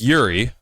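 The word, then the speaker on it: Jiří: It's Yuri. You're from Europe. You should know it's pronounced Yuri. The J is silent.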